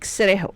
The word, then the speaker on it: Cerejo: This is Dominique Cerejo. Cerejo? Yeah, Cerejo or Cerejo, I don't know how to pronounce her name. Cerejo means Jo nahi re, ho hota hai.